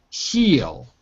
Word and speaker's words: heel: the name good pronunciation heel heel Achilles heel that's right and the word heal is like two syllables heal okay and it's pronounced exactly like the word to heal like when you're sick you you can get